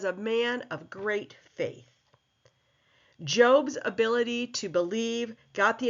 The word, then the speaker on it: Job: Testament a book called job it looks like job but it is pronounced job and job addresses addresses the justice of God